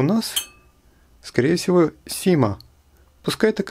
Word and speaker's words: XIMA: Как ее правильно произносить? Sima, Shima, Chima или Zima, я не знаю. Уж точно не Xima. Напомню, что в английском языке в словах, которые начинаются на букву X, начало звучит как Z.